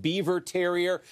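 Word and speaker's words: Biewer Terrier: in mind you've got the beaver pronounced beaver terrier this is a little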